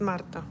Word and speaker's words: Marta: It's Marta. Oh, for F. Sorry if I'm mispronouncing people's names. No. I'm just saying it because I know she's Polish. So that's how you would pronounce it in Polish.